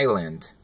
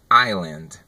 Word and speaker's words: island: Se você puxou esse S aí, ó, pode esquecer. Desencana desse S. A pronúncia é island. Island. Sem o S.